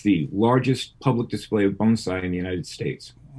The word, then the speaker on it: bonsai: Bonsai.